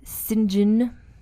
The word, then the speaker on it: St. John: And then her son Percy Florence married yet another Jane Gibson St. John. You see how I pronounce that? That's what British people say, St. John.